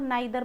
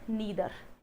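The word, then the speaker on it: neither: पुरानी इंग्लिश में इनको आइदर और नाइदर पढ़ा होगा आपने कहीं, है ना, आइदर और नाइदर नोर। लेकिन ऐसा नहीं है, इसकी प्रोनाउंसिएशन चेंज हो गई है। दैट इज ईदर नीदर, ऐसे बोला जाता है।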